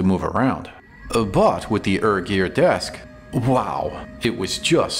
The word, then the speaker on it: ErGear: That's what the name ErGear is about. I wrote to the company and asked how to pronounce the name. Here's a direct quote. The ER part comes from the first two letters of ergonomic, and their website backs that up.